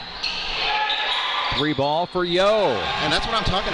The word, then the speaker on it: Yeo: the Hawks marklar spells his last name Yeo that pronounced yo here come the